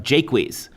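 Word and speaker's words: Jaques: we have the character of jake wheeze as the english would have pronounced him and he's a philosopher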